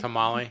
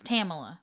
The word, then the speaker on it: Tamela: Tamala no you said tamale you said Tamela Tamela it's Tamila Tamila like Pamela with a t okay yeah Nichols in 1998.